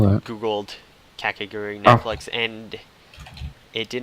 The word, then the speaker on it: Kakegurui: Kakagurt? I'll double check. Kakagurt. Oh wait, I do you just spell that? googled Kakegurui Oh.